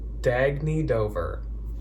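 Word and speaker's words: Dagne Dover: even though I thought I was wrong it's pronounced dag need over this is how it's spelled this is like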